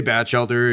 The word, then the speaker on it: Bachelder: Yes, we say Bachelder. It can be pronounced a few different ways, but thank you for that.